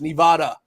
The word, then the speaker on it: Nevada: Was his Nevada? Nevada. Nevada. Oh, I have a guy who comments all the time. It tells me I'm saying it wrong. It's Nevada.